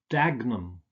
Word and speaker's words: Dagenham: don't pronounce this ham you usually just pronounce it um so it's not Birmingham but Birmingham its Chatham Dagenham Nottingham Oldham so it's just um